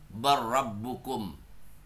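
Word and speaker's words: بل ربكم: Terus lanjut disamakan dengan ini disamakan dengan ini yang diidghamkan adalah lam sukun dalam kata hal atau bal. Nah, sama nih disamakan dengan ini. Bal rabbukum. Maka bacanya bar rabbukum.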